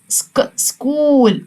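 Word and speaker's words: school: ست داون مدرسه يعني سكول يبقى هنا حرف الاتش مش هنطقه سكول سكول طيب يلا نستهجاها ك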